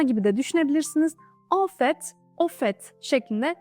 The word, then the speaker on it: au fait: kesinlikle diyoruz on fet Şimdi de ofet bir Bakalım burada da yine fet şeklinde telaffuz ediyoruz yani Saki T okunuyor istisna gibi de düşünebilirsiniz ofet ofet şeklinde telaffuz ediyoruz